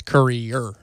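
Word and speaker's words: Courier: That's Currier, right? Indeed. The That's extra syllable.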